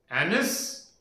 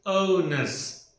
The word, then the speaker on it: onus: Anus? This is called as onus.